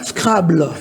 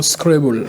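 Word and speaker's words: Scrabble: francophone vous pouvez dire pronon après moi SC scrable est-ce qu'il prononce bien SC oui il prononce bien après les anglopes vous dirons scrble voilà ok voilà est-ce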